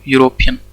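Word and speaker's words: European: यूरोपियन। ठीक है, यूरोपियन इस तरह से प्रोनाउंस करते हैं ना, तो यहाँ पे क्या आ रहा है? वाई आ रहा है, मतलब ये क्या है? कॉन्सोनेंट है, इसलिए यहाँ पे क्या आएगा?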